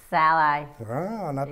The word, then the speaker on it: Szalai: me look the dirtbag this Bob how you pronounce my last name by the way Sal I not many people do to get that I